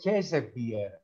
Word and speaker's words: Käsebier: Ναι, να πω λίγο ότι αυτή λέγεται Käsebier. Έχει umlaut επάνω.